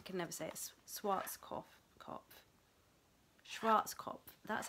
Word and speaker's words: Schwarzkopf: long time so this is a mousse by shruts I can obsess SWOTs cough cough Schwarz cop that's how you say it I did do